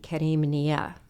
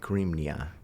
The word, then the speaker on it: Karimnia: It's Kareem, right?